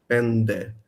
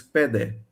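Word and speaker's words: πέντε: For instance, the numeral 5, pende, with an nd in it. In Athenian Greek today, it's pede, without the n in it.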